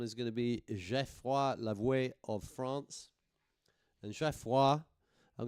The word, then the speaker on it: Lavoué: So Lavoué is how the French pronounce it.